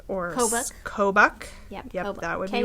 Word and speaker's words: Kobuk: I gotta go find the hat pattern now, because I'm going to not pronounce it right. Or Kobuk.